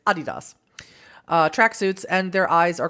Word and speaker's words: Adidas: if I could offer something, since it's a German company, it's Adidas.